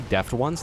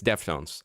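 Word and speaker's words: Deftones: Totally deaf ones.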